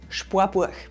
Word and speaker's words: Spoarbuach: Bei Sparen wird aus dem A in Sparen ein Ohr, Spor. Und bei Buch wird aus dem U in Buch ein Uhr, Burg. Das Sparbuch wird also zum Sparbuch.